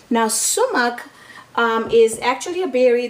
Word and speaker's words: sumac: the way it's pronounced it's is at It's pronounces s u m a c now sumuk um is actually a berry that grows in